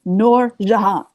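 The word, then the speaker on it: Noor Jehan: if I can explain noran that's how you pronounce it it's nor Jahan oh I'm sorry yourself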